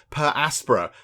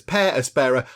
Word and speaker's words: Per Aspera: of the game because i would have said per aspera but no apparently i've looked on the internet and it says pear aspara and of course the